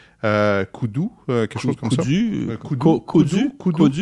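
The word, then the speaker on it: Kodu: s'appelle Kudu. K-O-D-U. Kudu, quelque chose comme ça. Kudu, si je le prononce en français.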